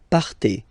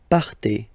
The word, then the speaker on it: partez: Okay, then for vous, classic ending for vous as well, EZ, but then you pronounce it et, vous partez. Vous partez.